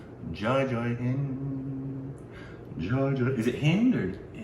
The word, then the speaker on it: Jai Hind: I believe the D is a soft D.